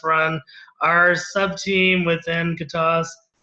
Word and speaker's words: Gatosk: our sub team within gasas with the silent k and I think our